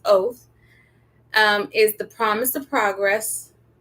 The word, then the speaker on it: OTH: So I went on ChatGPT and I said, OTH, Online Tutor House, pronounced oath, is the promise of progress.